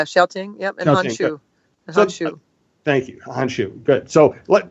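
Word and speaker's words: Han Xu: Okay, help me with the pronunciation. Xiao Ting? Yeah, Xiao Ting. Yep, and Hanshu. Hanshu.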